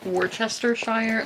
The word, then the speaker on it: Worcestershire: Worcestershire, like Worcester, that's a funny way to hear Americans pronounce, because there's a sauce called that, but here we go into it.